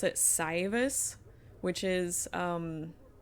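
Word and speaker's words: Saevus: It's like a or a, but they pronounce it syus, which is um it's a it is probably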